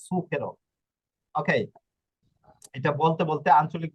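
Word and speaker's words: zucchero: জুকেরো বলে ঠিক আছে আমরাও ভুল করি আমরা জুকেরো বলি কিন্তু শব্দটা হবে সুকেরো ওকে এটা বলতে বলতে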